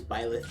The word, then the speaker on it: Byleth: I think that's how you pronounce it. It is Byleth.